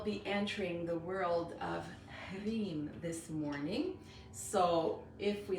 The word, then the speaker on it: Hreem: So we will be entering the world of Hreem this morning. So if we look at the pronunciation, again, we have that, so HR, that rolled R, the long I, which is pronounced E, so that's why sometimes you see it written like this.